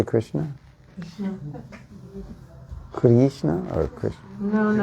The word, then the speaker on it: Krishna: kishna no no no it's not long it's short Krishna kishna short or Krishna kishna not